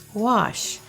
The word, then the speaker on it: gouache: Now I'm going to talk about gouache, or gouache, as some people might think it is when they look at the spelling, because it's spelled Gouach. So what in the world is gouache?